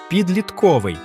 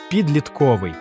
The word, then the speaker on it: підлітковий: завдання Калька з російської це слово часто вимовляють як підлітковий але правильний наголос підлітковий чому так бо в українській мові на голос